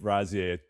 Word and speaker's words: Razieh: She tries to gatekeep Razieh a bit, right?